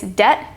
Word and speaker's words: debt: and doubt it's not debit or dbit it's debt and doubt the next one's the